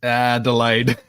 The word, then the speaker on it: Adelaide: he has gotten a pretty pretty heavily it's pronounced ah delayed we the last St to get anything my aunt and cousins live in Adelaide but I've never been over tell them to